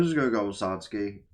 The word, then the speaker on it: Satsuki: Google put me to the wiki which says Satski. So like a matter of fact, let me just reook it up just because I like be saying it wrong the entire episode. Satski right right there.